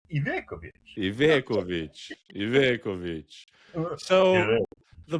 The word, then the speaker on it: Ivekovic: It's not Ivakovic, right? No, it's Ivekovic. Ivekovic. Ivekovic. Ivekovic. If I do full Balkan accent, Ivekovic.